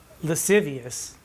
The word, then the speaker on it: lascivious: to lascivious grace which lascivious is four syllables by my count steven booth says it's only three but i say it's four and it's such a